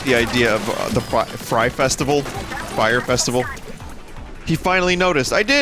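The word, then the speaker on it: Frye: the same sentence also it's fry not fire but my brain likes to fill in the y after the f and i just like the idea of the fry festival fire festival he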